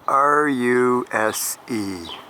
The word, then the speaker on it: Ruse: No, that does not read pike. It actually is spelled R-U-S-E. Ruse.